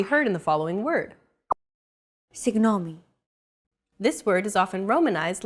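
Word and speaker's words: συγγνώμη: romanized like this signomi this character isn't pronounced using an English G sound at all who it's like a very soft continuous and loosely held G almost as if you're gargling but don't make it sound too throaty oh there's no such sound in English but most people would transcribe this using the letter G because that's the closest equivalent in English pronouncing it like an English G however would be a huge mistake to get that sound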